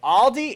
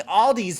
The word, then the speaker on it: Aldi: guys a break on but aldi it's aldi the only time an s should ever be on there is if it's a plural like hey bridget how many aldi's do you have in